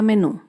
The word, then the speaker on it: menú: Por ejemplo, la palabra menú. Menú se acentúa en la última sílaba, menú.